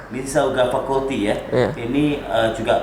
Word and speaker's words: Mississauga: Ada yang Political Science, kemudian University of Toronto, ini bacanya Mississauga. Mississauga Faculty ya.